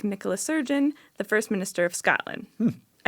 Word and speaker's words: Nicola Sturgeon: Nicola Sturgeon, a woman.